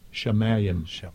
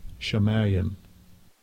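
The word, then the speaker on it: שָׁמַיִם: And let's hear how he pronounces this. Strong's H 8064. Shamayim. Shamayim.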